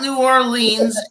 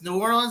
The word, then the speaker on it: New Orleans: what a New Orleans it's not New Orleans and it's not the trolley when you go down to New Orleans it's New Orleans and it's the street car what a great four